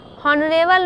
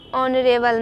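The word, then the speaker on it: honourable: एन ऑनेस्ट मैन, एन हॉनेस्ट मैन पढ़ना गलत है, एन हॉनरेबल मैन गलत है, एन ऑनरेबल मैन, N higher, तो यहाँ पे ईटीसी।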